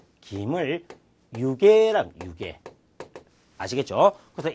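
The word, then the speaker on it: 湯気: 일단 여러분들이 기본적으로 알아야 할 글자 김이나다 할 때 김을 유계랑 유계 아시겠죠? 그래서 이 기자를 개라고 읽을 수 있는 N1 명사 N1의 어휘는 유계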